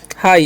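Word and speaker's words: high: तो क्या हो गया हाई यहां पर जी एच का उच्चारण करना ही नहीं है ठीक है ये ध्यान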